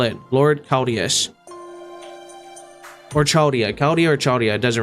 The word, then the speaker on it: Chaldea: The CH is like a K, so Chaldea.